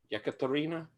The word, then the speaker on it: Yekaterina: Yekaterina, is that right? Josh, am I pronouncing it?